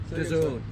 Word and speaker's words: DAZN: How do you pronounce it, mate? Dazn.